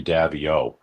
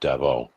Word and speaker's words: Davieau: name correctly oh oh most people say davo but it's really supposed to be pronounced Devo the way you did it so thank you for